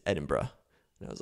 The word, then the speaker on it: Edinburgh: said hey FYI Jared you're not pronouncing Edinburg I think is what I was saying correctly it is Edinburgh and I was like